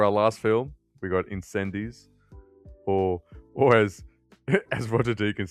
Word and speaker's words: Incendies: So for our last film, we got Incendies, or as Roger Deakins says, Incendies. But I am not pronouncing it like that.